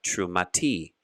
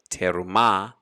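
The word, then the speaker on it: תרומה: to true we have true mati true mati which is a contraction of true ma or if you're saying it a little slower terumah we see it's a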